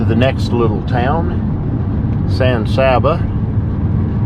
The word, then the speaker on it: San Saba: Well, okay, coming into the next little town, San Saba. I'm sure in Spanish it's correctly pronounced Saba, but I've got to say it like the locals do.